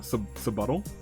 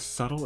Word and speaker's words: subtle: Sub-buttle? Okay, whatever. Hey, you brought it up. Wait, what? What did you just say? Okay, I'm not a dummy. Sub-buttle. Did you think the word subtle is pronounced sub-buttle?